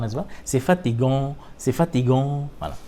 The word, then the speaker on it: fatigant: C'est fatigant. C'est fatigant. Voilà. It's tiring. C'est fatigant. C'est fatigant. Gant. Voilà. Nasal sound again. Gant. C'est fatigant. Some guttural sound as well. C'est fatigant.